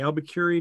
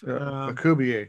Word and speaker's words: Alcubierre: I think you'd mentioned something about the Albuquerque drive. Alcubierre. Yeah. Alcubierre, sorry, I pronounced it.